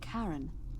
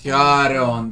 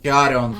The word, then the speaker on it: Charon: It's just as you described it, only your pronunciation is a little off. The name you heard wasn't Karen. It was C-H. Charon, the god is Charon, fucking hell.